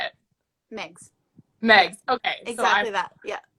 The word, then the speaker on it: Megs: Megs.